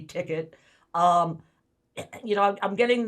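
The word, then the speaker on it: Tikt: product that you call ticket am i pronouncing it correctly yeah t-i-k-t ticket um you know i'm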